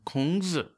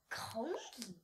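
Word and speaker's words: 孔子: They call him, in Chinese, they call him Kongzi. Kongzi?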